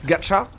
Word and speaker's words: gacha: j'étais attrapé Gotha et le mot gâcha qui se prononce gacha qu'on peut moi-même achat